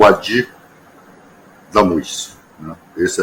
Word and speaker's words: Wadih: é difícil mesmo né mas a pronúncia é o Adi da Luz Esse é